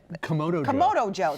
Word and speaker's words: Kamado Joe: This beautiful blueberry cobbler recreated in a Kamado Joe. Is that how you say it? Kamado Joe.